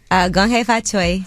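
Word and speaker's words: 恭喜發財: Gong hei fa choi.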